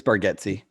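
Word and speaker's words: Bargatze: how do you say his last name it's bargetsy it's spelled bergatzi but it's pronounced brightsy forgetsi um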